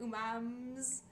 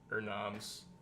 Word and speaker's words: Urnams: Umams. Urnams. Is it an R or an N? It's an R. It's URN. Urnams.